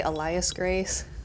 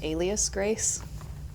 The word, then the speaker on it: Alias Grace: in the story um I say Elias Grace but um I think it's probably pronounced Alias Grace like using an alias name and um Netflix made